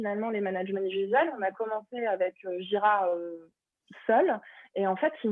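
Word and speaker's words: Jira: pour la gestion du back lot qui est gira si vous ne connaissez pas ça s'écrit j ai ras c'est très simple c'est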